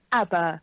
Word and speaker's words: ABBA: ABBA.